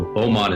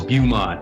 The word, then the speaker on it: Beaumont: bring up maps and they're mispronouncing you know Beaumont is boom ah you know so it's